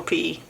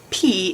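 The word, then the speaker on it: Peay: Let's go pee cuz it is the athletic motto and it is P E A Y.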